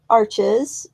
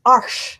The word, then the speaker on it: Arches: a lot of really good ones I like arches which I guess is not a correct pronunciation that's how we stupid Americans pronounce it oh what is the correct pronunciation okay it's it's arsh but whenever I say it I feel like